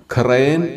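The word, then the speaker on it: ܩܪܝܢ: ഇവിടെയും നമ്മൾ പറഞ്ഞതനുസരിച്ച് യോധ ഉച്ചരിക്കാതെയാണ് ഈ വാക്ക് വായിക്കുന്നത്. അങ്ങനെ ഇതിന്റെ ഉച്ചാരണം ഖ്രയൻ എന്നാകും.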